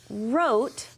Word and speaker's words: wrote: Yes, wrote has a silent letter. What is the silent letter in wrote? You got it, third grade, right there. That W, we don't say it.